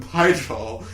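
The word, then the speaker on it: Pijal: Okay, but regardless, so since I listened to the audiobook, I know some of the correct pronunciations, and Pyjal is the name of the planet.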